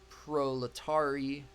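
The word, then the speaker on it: proletarii: And then we've got our proletari. Yeah, that's how you say it.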